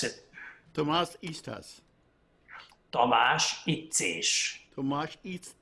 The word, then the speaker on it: Tamás Ittzés: name correct well let me hear you should pronounce it Tomas Easter's Tom Ashish too much each piece fish I